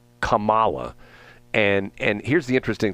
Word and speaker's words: Kamala: ways and tell me is it comma is that the prop proper pronunciation she likes is it kamla it's actually it's actually I I texted Willie Brown and he said it's kamla that's just what Willie